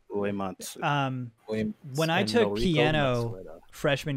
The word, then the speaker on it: Uematsu: Uematsu. Uematsu.